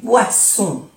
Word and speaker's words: boissons: O sea, arranger les boissons. Boisson. O-N-O, boisson. La S no se pronuncia, es de plural.